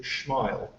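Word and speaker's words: XMILE: I think they like to pronounce it Schmile, as a Schmile initiative.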